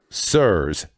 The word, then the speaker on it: Sirs: Ealta, which by the way, I appreciate how Ealta has a pronunciation guide with their name. Makes my life slightly easier. Nicholas B. McDonald. Sirs.